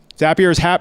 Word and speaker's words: Zapier: Zapier rhymes with happier.